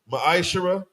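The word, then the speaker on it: מעשר: Book of Malachi, chapter 3, verses 8 through 10, means 10th in the Hebrew. It's pronounced ma'ashara.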